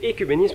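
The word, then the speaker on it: œcuménisme: Il faut prononcer écuménisme en français. Et le mot est de la même racine exactement que le mot économie par exemple. C'est écuménisme qu'il faut dire.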